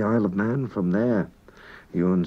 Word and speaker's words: Ewan: And you notice we don't say Ewan in Manx, we say Ewan. E-W-A-N is pronounced Ewan.